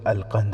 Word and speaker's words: القنص: نام بھی لکھا ہے۔ نام القنص تھا، جس کا تلفظ القند ہے۔ وہ مصری مسلمان تھا،